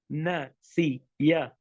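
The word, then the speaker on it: ناصية: Next word, nasiya. Nasiya. Nasiya. Ya with a fatha gives a sound ya. Ya. Not a. Okay? Not a. Some people mispronounce this word as nasiya. That's wrong. Nasiya.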